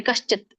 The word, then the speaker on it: ಕಶ್ಚಿತ್: ನಹಿ ಕಶ್ಚಿತ್ ಅಲ್ಲಿ ಕೂಡಿದೆ ಇಲ್ಲಿ ಕಶ್ಚಿತ್ ಇದಿರೋದ್ರಿಂದ ವ್ಯಂಜನ ಇರೋದ್ರಿಂದ ತ ಕ್ಕೆ ಅ ಹೆಚ್ಚಂಗಿಲ್ಲ ಕಶ್ಚತ್ ಅಂದ್ರೆ ಯಾರೊಬ್ಬನು ಅಂತ ಹೇಳಿ